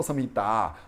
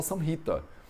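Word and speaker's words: संहिता: agora e falar, pô, o Matheus não fala samhita, o Matheus fala samhita. E por que ele fala samhita se a palavra termina com um A longo?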